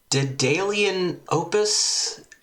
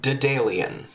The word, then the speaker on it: Daedalian Opus: Um game we're playing today is called Dalian Opus. I think that's how you pronounce that. It's a Dalian. Dalian. I'm I'm going with Dalian.